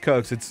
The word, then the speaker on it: Kochs: At number 2 is the Cook family. That's the brothers. Oh, the Koch brothers. The Koch. They're Kochs? Kochs. How do they pronounce it? It's pronounced Kochs.